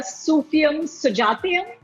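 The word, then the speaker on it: Sufiyum Sujathayum: uh you your film and please correct my pronunciation here sufium sujatyam yes got it right okay that that was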